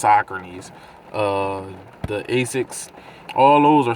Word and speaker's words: Saucony: And the runners are starting to sell like Sauconys, which we call them, but they're pronounced Sauconys.